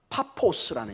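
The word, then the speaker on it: Πάφος: 세르기우스, 파울로스 이렇게 되고요, 바보도 우리말로 꼭 바보처럼 보이는데 사실은 이 이름이 파포스라는 이름입니다. 우리 번역을 할 때 바보로 번역을 해놨는데 좀 바보처럼 보이기도 합니다. 그런데 이게 파포스라는 원래 헬라어 뜻을 가지고 있습니다.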